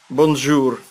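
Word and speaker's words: bonjour: Бонжур. Бонжур. Ну, ры они не произносятся, они так как-то бонжур.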